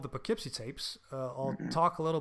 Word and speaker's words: Poughkeepsie: It's weird because it's Poughkeepsie. No, it's Poughkeepsie. That's how they pronounce it in the film as well.